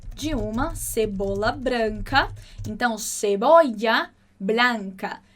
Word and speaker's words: cebolla: Então, cebolla blanca. Escolhe aí a sua pronúncia preferida para esse LL e vai comigo.